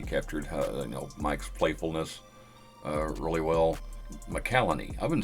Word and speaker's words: Holt McCallany: McCallany. I've been saying his name wrong this whole time, apparently. I've been saying McElhaney.